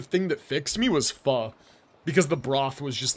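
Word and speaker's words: Phở: the new apartment's also walking distance from a pho place. Let's go. Yeah, the second thing, it's pronounced pho.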